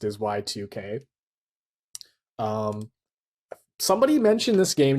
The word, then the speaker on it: YIIK: game called J or uh how it's actually pronounced is Y2K um somebody mentioned this game to me uh